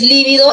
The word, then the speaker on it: líbido: ver con v es líbido es drujula entonces aquí con v con v es esdrújula la palabra líbido ya y con v